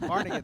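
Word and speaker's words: Barnegat: How's how do how do we pronounce it? Like Barnett. Barnett. Barnett. There we go.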